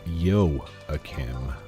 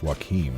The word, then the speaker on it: Joachim: I looked up online how to pronounce Joachim, and I guess it's German. I guess it's supposed to be Joachim. Which I didn't expect. I thought it was just Joachim for a second.